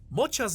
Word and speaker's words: Mocha: Mocha's name is pronounced with a "ch" sound instead of a "k" sound.